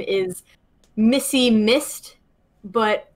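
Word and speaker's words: Missed: And her name is Missy Mist, but her last name is spelled M-I-S-S-E-D, Mist.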